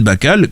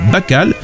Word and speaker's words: Bacall: années plus tard car avec un seul l plusieurs prononciation était possible ce qu'il est né n'est plus possible dans la langue anglaise lorsqu'il ya deux ailes la jeune betty rêve